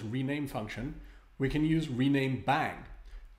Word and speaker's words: rename!: Instead of using this rename function, we can use rename bang. This exclamation mark is often pronounced bang in the context of computer programming.